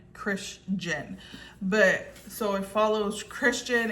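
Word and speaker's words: Krisjen: And it's spelled K R I S J E N. Christian.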